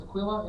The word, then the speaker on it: Aquila: Verse 2, and in Corinth Rav Shaul found some Messianic Jews named Onkelos, hailing, or Aquila, it's pronounced Aquila in most bold translations, hailing from Pontus,